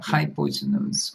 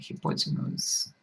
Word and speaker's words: hypotenuse: most teachers do and this is uh hypotenuse or hypotenuse both pronunciations are possible i'll call it hypotenuse